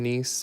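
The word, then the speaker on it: gneiss: when it's nice and I'm saying nice because it's spelled like that but it is nice spelled you say it like n-i-s or n-i-c-e nice but yeah under that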